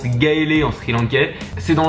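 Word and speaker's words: Galle: donc demain justement je vais à ça se prononce gaéé en SRI lankaais c'est dans le sud et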